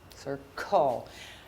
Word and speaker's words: circle: doing that so how do you spell circle c i r c l e that is correct goal circle those silent e's are everywhere you have to